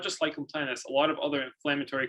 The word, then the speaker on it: lichen planus: Lichen planus, basically irritation of, like, do I have this right? Lichen planus? Yes.